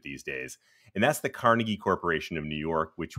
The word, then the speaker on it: Carnegie: I like going to Carnegie and that's actually how the locals pronounced it they used the Scottish pronunciation of Carnegie in the Pittsburgh suburb